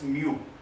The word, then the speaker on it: mu: This is the Greek letter and we are pronouncing it as mu.